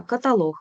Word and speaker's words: каталог: а далі найбільш уживані слова з єдиним правильним наголосом ознака каталог фаховий навчання мережа завдання разом поняття посередині довідник